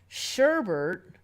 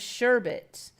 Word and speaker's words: sherbet: sharba for a drink Sherbert is a common misspelling of sherbet that resulted from a common mispronunciation its prevalence has resulted